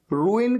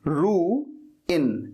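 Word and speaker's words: ruin: अच्छा, यहां पर जो वर्ड रूइन है ना, इसको प्रोनाउंस करने में बहुत सारे लोगों को दिक्कत होती है। रू इन ऐसे बोलना है, रूइन।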